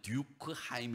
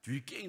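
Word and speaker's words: Durkheim: 시어 뒤 께 예 그 영어로 하면 듀크 하임 이라고 읽을 수 있는데 이게 블렌더 사람이라 뒤 게임 라고 읽어요 근데 이 사람이 쓴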